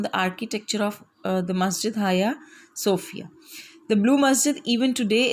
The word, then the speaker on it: Hagia Sophia: This is Hagia Sophia, not Hagia Sophia. Is that clear? So you have to focus the pronunciation of the word hospice. And the second is Hagia. This is not Hagia.